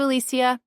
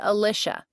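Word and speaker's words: Alisha: "Nice to meet you, Alisia." I pronounced the name with four syllables as I usually did. My name is Alicia.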